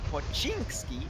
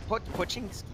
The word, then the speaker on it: Pochinki: Anyway, it seems like we do have TP going towards Pochinki. Pochinki.